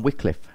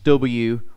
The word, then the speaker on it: Wycliffe: the interest it's spelled w-y-c-l-i-f-f-e then the story but it's pronounced Wycliffe weekly because in the Old English a y and the I was the same thing and if you look